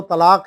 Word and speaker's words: طلاق: حرف کو کر دینا، جیسے اصل جو تلفظ ہے وہ ہے توئیں، لام، الف اور قاف، طلاق، تو اب توئیں کی جگہ تے بول دینا، یا قاف کی جگہ خاف بول دینا، خے بول دینا، یا کاف اور دو